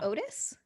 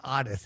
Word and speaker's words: Otis: lucas and artist tool oh like otis no his name was artists it's spelled otis okay did you have